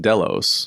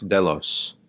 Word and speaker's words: Delos: But I was like, some people say in Greek mythology, actually in the Iliad, it's pronounced Delos. Delos.